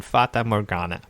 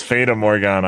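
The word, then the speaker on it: Fata Morgana: is the house in fatah morgana which is always pronounced yes i always thought it was fatal morgana i don't know why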